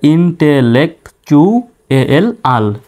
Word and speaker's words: intellectual: Double LEC lake, TU এখানে যদিও বা এখানে টির উচ্চারণ টর মতো হয়, কিন্তু এই শব্দে টির উচ্চারণ চর মতো হবে। তাহলে ইন্টেলেকচুয়াল, ইন্টেলেকচুয়াল, এই শব্দটা একটু